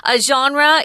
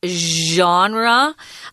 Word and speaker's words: genre: comedy which is interesting genre is a French word that's why it's pronounced so weird sorry about that genre it just means a